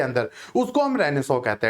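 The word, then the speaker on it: Renaissance: अब ये रेनाइजेंस जैसा लिखा हुआ आपको दिख रहा होगा, लेकिन इसका जो प्रोनाउंसिएशन है दैट इज रेनेसो। तो यूरोपियन रेनेसो मतलब वहां पे यूरोप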